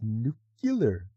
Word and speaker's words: nuclear: how you doing oh yay nuclear yeah it's pronounced nuclear nuclear um the process to move ahead with